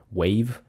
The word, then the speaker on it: WAV: wav machine.png also I don't know if you say it wav but that's how I pronounce it wave uh paddle and wall